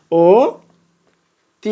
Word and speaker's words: অতি: রসইকার বা রসই আছে তাহলে অটা কির মত উচ্চারণ হবে ওর মত উচ্চারণ হবে তাহলে আমরা এখানে ও তি লিখি দেখো এইটা আমরা কি